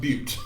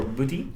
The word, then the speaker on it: Butte: I'm afraid to tell you that's pronounced Butte. Okay. Antelope Butte. 3,993 feet. Chinaman's Hat. It is 4,068 feet tall. Haystack Butte or Booty.